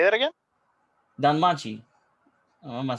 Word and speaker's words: Danmachi: Danmachi.